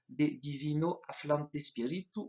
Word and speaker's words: De Divino Afflante Spiritu: Par exemple, la lettre encyclique de Pie XII de 1943, De Divino Afflante Spiritu, je prononce à l'italienne, c'est pas académique, mais c'est pas grave.